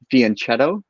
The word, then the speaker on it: fianchetto: The CH in Italian, like that, is pronounced like a K.